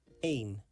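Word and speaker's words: een: One in Dutch is a pronounced like the word main without the M sound at the beginning. Aim two is this is pronounced like tw three is D.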